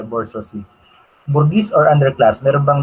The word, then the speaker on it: bourgeoisie: Kung gusto natin talagang pronunciation ay bourgeoisie.